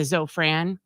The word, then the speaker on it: Zofran: Monday morning and they got the uh the Zofran is that what it's called so am I